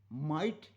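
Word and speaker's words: might: listen में T silent माइट शक्ति के लिए एम आई जी एचटी जी एचटी जी एच साइलेंट है तो बहुत सारे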